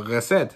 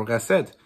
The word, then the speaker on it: Recette: Now, candy users are all basically criminals, and they have an antagonistic force called the Recette, which is the it's spelled R-E-C-E-T-T-E, and it's French.